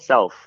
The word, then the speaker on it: CELF: years is actually called CELF, and so it's sort of an interesting pun to self-sustaining, but it's spelled CELF.